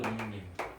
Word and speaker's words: 독립: 독립.